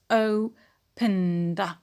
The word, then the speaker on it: opened: Opened. And the ed here is pronounced d.